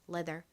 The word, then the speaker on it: leather: 뭘까요은 가죽을 의미하는 단어입니다 한국식으로는 아까 말씀드렸던 것처럼 보통이의 리을 받침을 빼고 표기를 합니다 그래서 레더 이렇게 표기하고 발음하는 경우가 많습니다 예전에는 레자 뭐 이런 식으로 발음을 하기도 했었죠 하지만 레자는 좀 콩글리시 발음이고 실제 미국식 영어 발음으로는